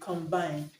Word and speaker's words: combine: correct answer option actually combined combine has a stress on the second syllabus okay because it's a verb so option C useless